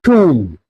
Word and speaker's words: tomb: For example, the word like bomb not bomb, it will be pronounced as bomb. B will be silent. Thumb not thumb. Lamb not lamb. Tomb not tomb.